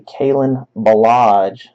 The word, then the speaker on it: Kalen Ballage: His name is actually Kalen Ballage. Sounds crazy, but that is how you pronounce it.